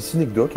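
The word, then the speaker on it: Synecdoche: Bah, moi, je le dis Cinecdoc à la française.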